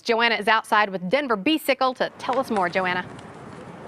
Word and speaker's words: B-cycle: On a This is bicycle. Carrie. She is the executive director of Denver Bicycle. Is it Bicycle? Am I pronouncing that right?